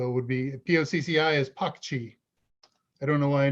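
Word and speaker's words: Pocci: So it would be P-O-C-C-I is Pakchi.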